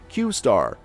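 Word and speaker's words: Q*: in the article was qar which is pronounced qar the qar conspiracy theory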